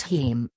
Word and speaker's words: heme: 7 team not available to buy yet heme pronounced heme from the Greek word for blood - is